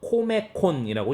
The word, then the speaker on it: 코메콘: COM 해서 코메콘이라고 읽습니다. 코메콘 이렇게 읽기도 합니다.